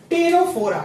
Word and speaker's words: Ctenophora: three जिसका नाम है टेनो फोरा क्या नाम है टेनोफ टेनोफ में सी साइलेंट होता है इसीलिए यहां से हम